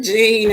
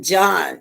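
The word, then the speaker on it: Jean: place now desolating gene it's g-e-a-n we pronounce it gene in america i think they pronounce it john john we want to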